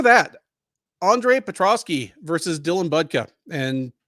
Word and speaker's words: Budka: Andre Petroski versus Dylan budka and I I think they pronounced it buka either way buka uh fresh from a